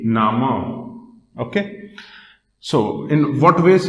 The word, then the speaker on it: Name: In German, the spelling of name is this only, but it is pronounced as Nama. This is pronounced as Nama. Name, Nama.